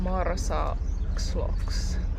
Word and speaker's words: Marsaxlokk: Marsaxlokk Harbour I already forgot the name, but I think it says it here: Marsaxlokk Harbour Muistatko miten se sanotaan? Do you remember how to pronounce it?